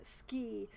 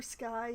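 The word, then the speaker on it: Skie: I know that the game wants me to pronounce her name ski but that's it just sounds really dumb to me so I call her Sky instead of hmm you know what never mind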